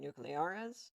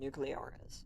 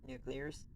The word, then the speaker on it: Nucleares: Alright, welcome to a game called Nucleares. You don't spell it, you don't say it nuclears, even though it kind of looks how like it would be pronounced.